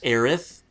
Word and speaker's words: Aerith: it's I think it's Aerith but Aris sounds a lot easier to pronounce yeah Aerith just sounds kind of dumb no it's supposed to sound like earth Aerith earth I guess cuz